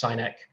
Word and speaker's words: Sinek: So there's a chap called Simon Sinek, who I absolutely adore, and sometimes pronounced Sinek.